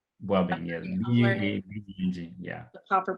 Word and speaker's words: Buabeng: Okay, I am on Facebook, I'm Instagram, I am on LinkedIn, and the handle is Buabeng. Yes. Okay, Buabeng. Buabeng, yes. B-U-A-B-E-N-G, yeah. The proper pronunciation.